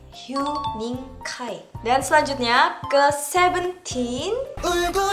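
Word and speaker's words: 휴닝카이: Sebenarnya kalau misalkan dilafalkan di dalam bahasa Korea, Hue-nya itu dibaca Hyu, jadi Hyuning Kai. Wening Kai tapi Hyuning Kai.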